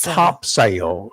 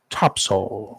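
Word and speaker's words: Topsail: It's not topsale. It's topsole. That's right. T O P S U L. Not how it's spelled, but that's how it's pronounced. It's a nautical term, right?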